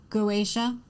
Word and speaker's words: Goetia: Goetia.